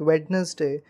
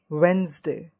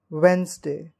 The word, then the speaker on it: Wednesday: do you call it Wednesday no this is the wrong pronunciation we don't call it Wednesday but we call it Wednesday Wednesday it is like w e n z Dash d-a-y Wednesday we don't call